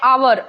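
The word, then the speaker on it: hour: इसके साथ साथ एन आवर आवर आवर होता है हर नहीं होता है ठीक है तो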